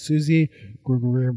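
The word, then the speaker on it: Suzi Gablik: Susie, if you guys didn't catch it, her name is Susie Grublick. That's how she pronounces it.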